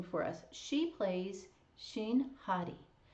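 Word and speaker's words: Hari: She plays Shin Hottie. H A-R I. And since there's no R in Hongu, it's like a a D. So if you say her name Hottie, uh it kind of sounds like hottie.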